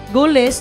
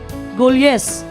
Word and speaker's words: Golyes: Wa gyud ni sakto ato kay mo pagsulti, Goles na ni sulti Giles. So ang tama gyud nga pronunciation, Golyes.